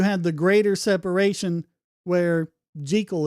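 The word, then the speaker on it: Jekyll: Hyde was just more of the it, but it was just over time you had the greater separation where jal is actually the proper pronunciation.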